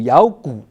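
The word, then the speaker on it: 咬: The Five Desires are useless, like a dog biting the bone “gǒu yǎogǔ”. The biting pronounced as “yǎo” in chinese.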